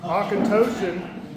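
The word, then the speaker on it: Auchentoshan: So it's pronounced otokentosh going through some whiskey of this group.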